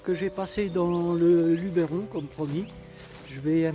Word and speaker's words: Luberon: Alors déjà j'ai appris que on ne disait pas le Luberon mais le Luberon.